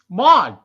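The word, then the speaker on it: Maude: i don't remember those m-a-u-d-e how do you say that mod mod was edith's sister yeah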